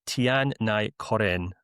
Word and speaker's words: Tian Nai Koren: But I'm going to say Tian Nai Koren, who's a 17-year-old Slovenian attacking midfielder. Bart, please now let me know how I'm supposed to pronounce his name, and then let us know who he is and why he's a special talent. Well, yeah, it's perfect.